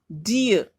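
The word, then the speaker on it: dear: फिर डियर, देखिए are silent है, डियर।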